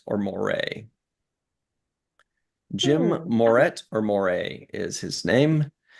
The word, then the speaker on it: Moret: You'll have to help me with the name pronunciation. Jim Moret or Moray?